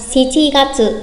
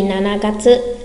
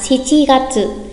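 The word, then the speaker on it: 七月: Tháng 7 người Nhật cũng sẽ nói là Shichi Gatsu thay vì Nana Gatsu. Nhắc lại, tháng 7 là Shichi Gatsu.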